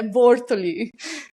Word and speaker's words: Bortoli: O telemarketing, quando liga, fala: quero falar com a de Bortoli, né? Eles não têm, mas é Bortoli.